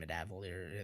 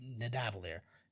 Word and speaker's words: Nidavellir: I can't even pronounce it. Midavalir. There you go. Nidavellir.